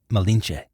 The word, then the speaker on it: Malinche: Malintzin, or Malintze. The Spanish couldn't pronounce this, so they called her Malinche.